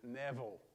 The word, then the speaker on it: Nabal: to show wrath to Nabal. Or we will pronounce his name correctly, Neville.